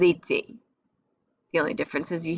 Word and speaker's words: étaient: And then this whole jumble cluster of vowels is pronounced A. All of that. So it's like the boot shape, they all sound the same. J'étais, tu étais, il était, ils étaient.